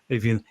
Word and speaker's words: Aoibheann: I think that's the most important question, AOIBHEANN. Am I getting your name correct? Yeah, you are. It's pronounced a bit differently by everyone, but yeah, you're spot on with it.